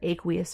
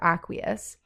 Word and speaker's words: aqueous: means dissolved in water aqueous or aqueous those are the two ways to pronounce what aq stands for then it's gonna be